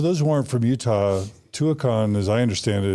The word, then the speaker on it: Tuacahn: Is it that how you pronounce it? Yes. So Tuacahn.